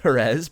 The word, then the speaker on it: Jerez: Do you pronounce his name Jerez or Jerez? I don't even know, actually. It's Jerez.